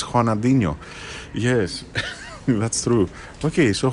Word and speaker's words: Ronaldinho: oh it's haa it's Raa yeah you've been pronouncing it incorrectly all this time oh oh yes because it's not Ronaldinho it's hanino yes that's true okay so haa um thank